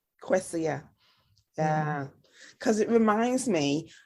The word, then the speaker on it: Kwesia: And how do you pronounce it? Kwesia. Kwesia.